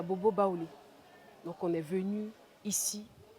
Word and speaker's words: Baoulé: Baoulé, en vraie prononciation à Tchan, c'est Baouré.